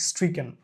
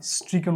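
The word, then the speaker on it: stricken: participle form এটা হচ্ছে স্ট্রিকেন American English এবং ব্রিটিশ ইংলিশে এটা স্ট্রিকেন উচ্চারণ হবে উচ্চারণের ক্ষেত্রে আমাদের ভালো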